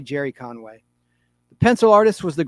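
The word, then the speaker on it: Gerry Conway: The story inside was written by Gary Conway or Jerry Conway spelled with a G, so we'll say Jerry Conway.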